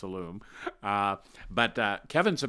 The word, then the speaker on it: Illume: got the pronunciation right there's always that tendency to make it sound like he's from France with a lum but it's a loom uh but uh Kevin's